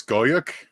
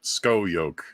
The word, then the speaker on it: Scoyoc: I don't know how to say his last name yet. I've been saying it's Skoyuk. Van Skyuk. It's spelled Scoyoc. Skoyuk. Skoyuk. Van So that's Skoyuk. what I've been going with.